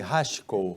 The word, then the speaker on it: Hachiko: O pessoal do canil deu a ele o nome de Hachiko, ou Achico, né? Como se a gente pronunciar de acordo com as letras em português,